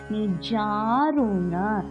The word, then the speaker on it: நிஜாருண: பிரபாபூர மஜத் பிரம்மாண்ட மண்டலா நிஜாருண ஜாதீர்கம் சோஏக்கு மேல லைன் கொடுத்திருக்கா இழுத்த மாதிரி உச்சரிக்கணும் நிஜாரு மூணு சொல்லுங்க நாக்க பின்னாடி வச்சு உச்சரிக்கணும் நிஜாரு பிரபா மகாபிராணம் பிஹ